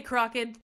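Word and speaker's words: Crochan: I say crocked. The way you say that sounds like crotch, and I can't get behind it. It doesn't, because Kraken. I'm not saying crotch. And it I'm also sounds Kraken. Like the Kraken, like the Pirates of the Caribbean Kraken.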